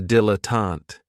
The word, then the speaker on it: dilettante: Another great noun, which is another one of my favorites, is a dilettante. And this word has 3 syllables. And there's kind of like a stress on that first and last syllable.